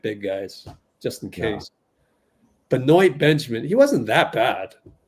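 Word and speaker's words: Benoit: Dean I didn't want I was hoping it it wouldn't be a Beno Benjamin pronunciation it was Beno you remember Beno Benjamin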